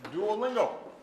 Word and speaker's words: Duolingo: And we've got Duolingo. Is that, did I That's pronounce correct, it properly? Duolingo, yeah.